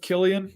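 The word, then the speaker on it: Cillian: how to say his name I know it's Killian Murphy ah peaky blinders well there you go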